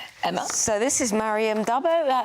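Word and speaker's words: d'Abo: So this is Mariam Dabo. How do I pronounce Mariam it? Dabo.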